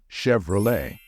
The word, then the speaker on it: Chevrolet: word is Chev however the ending of this word is pronounced as Le so the correct pronunciation of this one is Chevrolet be careful a Chevrolet for example 1960 Chevrolet